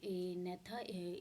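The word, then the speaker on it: Agnatha: और इसमें सब फाइलम आता है इन एनेथा, जो जी है इसमें वो साइलेंट है।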